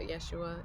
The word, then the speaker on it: Yeshua: indoctrinated I've always been told about Jesus about Yeshua is how I call him that's how you pronounce his name of his culture I've always